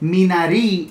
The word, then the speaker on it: Minari: Minari is what we've been calling it. Minari is how it's pronounced.